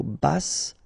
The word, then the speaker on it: basse: Okay, so basse, final E not pronounced, but then you pronounce the double S, so S. basse. And then here you've got the double L after your E, remember?